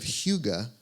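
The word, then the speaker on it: hygge: me resonates of another European concept that of Huga that you may or may not be familiar with it's spelled h y g g it's a Norwegian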